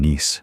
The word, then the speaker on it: NICE: of researchers working in Nice, France, so it's called the NICE model, pronounced like the city.